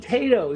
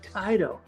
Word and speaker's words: Taito: I said, "You mean Tato?" He said, "No, we pronounce it Taito."